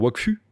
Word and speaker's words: Wakfu: Mais ça s'écrit pareil, c'est FU. Ouais. Donc les gens, ils pourraient dire Wakfu. Oui. Dans la même logique. Mais les gens ne disent pas Wakfu.